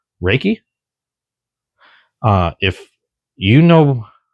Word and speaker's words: Ruike: But as far as I know, it's pronounced Reiki.